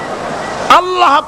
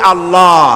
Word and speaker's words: আল্লাহ: বোধহয় নিশ্চয়ই মনে আছে আল্লাহ এই উচ্চারণটা আমাদের অনেকের হয় না কেউ বলে না আল্লাহ পাকের উচ্চারণ হচ্ছে আল্লাহ পাকের নাম হচ্ছে আল্লাহ মুখটা একটু গোল হয়ে যাবে বলেন আল্লাহ আল্লাহ পৃথিবীতে